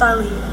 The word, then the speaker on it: Ali: Yes, it's pronounced Ali. I know a lot of people gets it wrong.